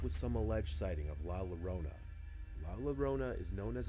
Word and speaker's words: La Llorona: I'm gonna be like, this is how you say La Llorona, right? First, you gotta make the double L sound like an L. La. Then, like Corona, you know, from coronavirus, not the beer brand, you say Orona.